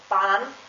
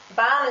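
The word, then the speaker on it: Bahn: for example the word ban which means uh track train train tram trolley um bond is spelled um ba b-a-h-n and because there's an h the letter a has a long pronunciation this also counts if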